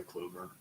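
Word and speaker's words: Kluber: Nickname or his last name might rhyme with Uber. Who am I? Oh, Corey Clover.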